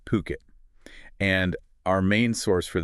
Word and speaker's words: Phuket: We're talking about puket. Puket, right? Puket. Not uh not the way you sometimes hear it.